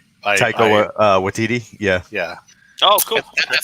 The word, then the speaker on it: Taika Waititi: I do not know how to pronounce his name. Taika Waititi.